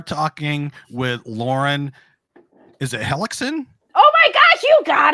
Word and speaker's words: Hellekson: tonight we are talking with Lauren is it helixon oh my gosh you got it okay good